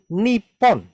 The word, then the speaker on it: Nippon: Nippon.